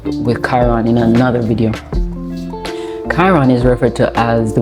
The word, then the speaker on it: Chiron: Chiron, Chiron, pronounced Kai, Kairon. Chiron is in Aries right now, collectively, right?